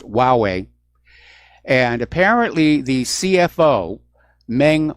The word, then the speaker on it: Huawei: corrected my pronunciation about that cellphone manufacturer it's pronounced Huawei and apparently the CFO Ming Wang Zhao has